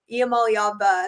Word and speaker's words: Iamaleava: The last part. It's Iamaleava instead of Eva.